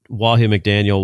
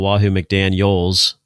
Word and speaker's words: Wahoo McDaniel: not that good and he called Wahoo McDaniel wahoo McDaniels I noticed you didn't even say his name right yeah because I did